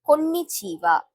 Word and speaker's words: konnichiwa: Konnichiwa. This letter is ko in ni chi wa. So combinedly we can say this word as konnichiwa. Konnichiwa is a basic word